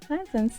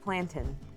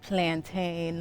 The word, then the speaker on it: plantain: The steel drops and I made fried plantins today. It's pronounced plantin. It's plantin like captain. Not plantain like I don't know what's the word that ends in.